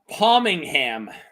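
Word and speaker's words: Pommingham: Um, it's house palmingham. I'm not making that one up. Pomegran I g a m. Wait, wait. Spell it again.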